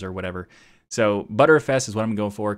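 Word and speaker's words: Btrfs: pc first of all there's some improvements to butter fs there's also some people calling it better fs and even some people call it butter fuss i don't know why anybody would do that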